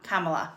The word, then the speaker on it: Kamala: things like that so cam cam Kamala Kamala that's how you pronounce it I always pronounce